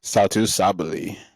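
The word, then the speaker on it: Satou Sabally: Satu Sabali.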